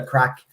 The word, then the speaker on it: craic: The stream is probably not monetized because its title is "What's the Crack." But there you go. Make sure you spell it.